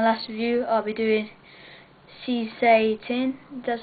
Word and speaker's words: Saesee Tiin: next in my last review I'll be doing CC 10 that's how you pronounce it I'll just show the packaging this